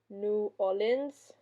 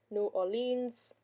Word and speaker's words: New Orleans: The many different ways you can pronounce New Orleans are New Orleans, New Orleans, New Orleans, or New Orleans.